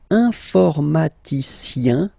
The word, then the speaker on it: informaticien: All right, and the last group is IEN, informaticien, yin. So that's the way to pronounce this IEN, yin.